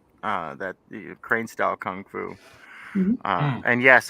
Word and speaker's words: kung fu: that the crane style kung fu and yes i do say kung fu instead of gung-fu because i'm an american damn it we pronounce